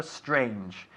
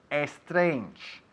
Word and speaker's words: strange: de decir ha sido tu pronunciación de la palabra strange, porque casi el 99% de tus compatriotas dirían strange. O sea que espero que no lo estéis diciendo en casa. Strange, empezando con esta S tan fuerte.